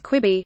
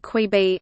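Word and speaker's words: Quibi: the short-form streaming service kwibi featuring bank robbers who pause to watch a quick show on their phone screens made one thing clear how to pronounce kwibi it's kwi b not qui b Amazon Prime video and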